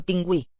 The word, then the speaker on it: pingüí: El pingüí. El pingüí. So higher tone on that acute accented E at the end.